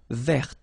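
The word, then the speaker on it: vert: So masculine form you don't pronounce the final t feminine form ver. So listen carefully. I don't say t but it's t ver.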